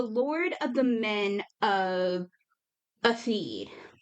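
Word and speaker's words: Éothéod: If we're going to pronounce it Earl, that's how I would pronounce this. Is Atheed, because Earl is EO and the beginning of this is EO. So I would use the same pronunciation for that EO, the Right.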